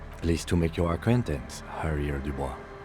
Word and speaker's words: Harrier: Pleased to make your acquaintance, Harrier Dubois. I don't pronounce the H because of French habit, but it's alright.